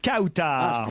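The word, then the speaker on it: Kawtar: Kautar Kautar. Bonjour Kautar. Je prononce bien votre prénom.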